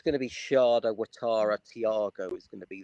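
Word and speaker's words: Ouattara: So, Alara, how is it pronounced? Watara. Watara.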